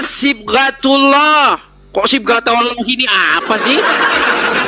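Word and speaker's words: صبغة الله: Aduh bukan siatallahi. Aduh baca Quran aja enggak bisa ini orang. Aduh bacanya sibgatullah.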